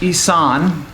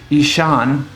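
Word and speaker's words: Ihsahn: to disagree with different things i went with isan um or i guess i just found out it's actually pronounced ishan spelled weirdly but okay um and of course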